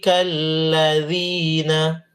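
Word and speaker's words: الذين: Ulaika alladzina, ladzi lembut, bukan lasina.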